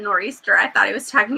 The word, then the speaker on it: nor'easter: end and i think you don't pronounce the t8 in north nor'easter easter the north easter is